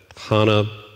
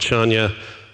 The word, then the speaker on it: Chania: city on Crete called, depending on how you pronounce it, we called it Hana, but some people call it Chania.